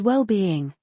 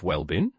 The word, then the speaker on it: well-being: It is well-being with stress on both parts. Wellbeing. Both parts are stressed. Yes. A slight emphasis on each syllable. It's often hyphenated, isn't it? Correct. Indicating a combined concept. What about common pronunciation errors? Sometimes people rush the second part being making it sound like well been exactly losing the clear B sound.